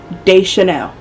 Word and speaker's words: Deschanel: at De Chanel's name Deschanel day like d a then she has the apostrophe Chanel like it's literally like the